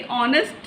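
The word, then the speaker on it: honest: ऐसे ही ऑनेस्ट मैन, ऑनेस्ट, ओ से spelling निकल रही है, ऑनेस्ट मैन, तो H क्या है हमारा साइलेंट, तो यहाँ पे हम क्या यूज़ करेंगे, N।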